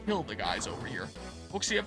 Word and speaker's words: Wuxia: Wuxia, pronounced like Wosha, are basically Chinese action movies, but instead of guns and explosion, it's swords and martial arts.